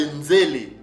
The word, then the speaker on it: nzele: Nos pères prononçaient ces mots-là de nzele. Ok? Donc, nous avons, comme on l'a dit, hein, donc le sin se confond avec le zaïn, le Z. Ok? Donc, nzele. C'est comme ça que nos pères prononçaient ces mots-là.